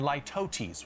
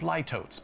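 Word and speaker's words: litotes: I'd also encourage you to use hyperbole and lootesis, which I always want to read as ltootes, but that's not how you say it.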